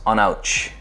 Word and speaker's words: Aonadh: Rob doing the banahabin an ouch spelled a-o-n-a-d-h but pronounced on ouch uh it is a